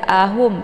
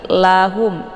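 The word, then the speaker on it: لَهُمْ: inilah ya bukan A jadi jangan dibaca ahum tapi lahum ya kemudian humfa di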